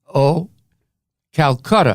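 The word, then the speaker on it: Oh! Calcutta!: in the show called Oh Calcutta yep I have to spell it because a lot of people think I'm saying old no oh H ' Calcutta like the Indian City but the story behind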